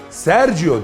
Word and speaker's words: Sergio Gürlek: söyleyeceğim ve birlikte dünyayı keşfetmeye devam edeceğiz unutmayın Sergio diye okunur Sergio diye yazılır serginho görmek eşek sergiu